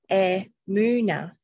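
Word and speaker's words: אמונה: And in Hebrew, faith is pronounced emuna, emuna, which is E-H. This is how you pronounce it, E-H-M-O-O-N-A-H, emuna.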